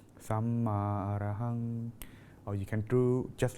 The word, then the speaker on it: Samma Arahang: The mantra here we are using is pronounced like this: Samma Arahang, Samma Arahang.